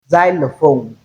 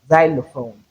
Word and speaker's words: xylophone: However, we can realize the letter x as z at initial position that is at the beginning of word. For example, xylophone. xylophone.